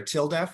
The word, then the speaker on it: TLDEF: October of last year sorry tildeft which is how we pronounce the acronym tldef for transgender legal defense and education fund sounds a lot like till death um which is a way to remember it I suppose um uh